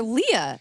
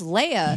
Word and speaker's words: Leia: like why is everyone calling her Leah like I thought it was Leia here's what I think